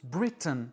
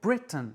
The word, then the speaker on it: Britain: Ce mot se prononce Britain. Bray est accentué et T-A-I-N n'est pas accentué. Donc T-A-I-N se prononce un. Britain.